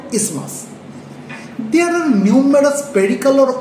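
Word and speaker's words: isthmus: thin flap of connective tissue which is called ismas. Though it spelling is I s t h m u s we will not pronounce it as ismas. The actual pronunciation is ismas.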